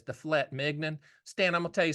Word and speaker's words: filet mignon: I'm like, Mom, it's filet mignon. She goes, it's got a T in it. I know, but they don't pronounce it. It's filet mignon.